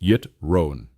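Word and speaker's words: יתרון: The word amal work connects to our fourth key term yittron spelled yervon and pronounced yitron.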